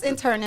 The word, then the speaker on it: internist: No, it's internist.